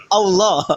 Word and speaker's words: Allah: Itu bacanya apa? Allah.